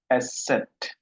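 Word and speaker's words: ß: এই যে বি এর মতো দেখতে, পেঁচানো বি এর মতো, এটার উচ্চারণ হলো এস সেট।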